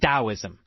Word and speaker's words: Taoism: I don't know why why didn't we just spell it with a D I don't know it